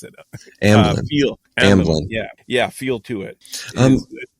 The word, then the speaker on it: Amblin: I know that they said it has an Albalin, whatever ET. Can I pronounce it? Amblin.